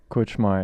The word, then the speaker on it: Kutzschmar: Is that how you say your last name? Kutzschmar, yeah, There it's we pretty go.